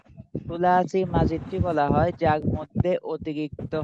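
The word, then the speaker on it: ثلاثي مزيد فيه: আর একটা হচ্ছে সুলাসি মাজিদ ফি। সুলাসি মাজিদ ফি, এগুলো উচ্চারণ ঠিক করবেন। অনেকে বলে সুলাসি মজিদ ফি, এই সমস্ত উচ্চারণগুলো করবেন না।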